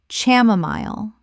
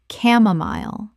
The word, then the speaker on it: chamomile: Common mispronunciation. Chamomile. Correct pronunciation. camomile The c h makes a k sound and the final syllable rhymes with mile.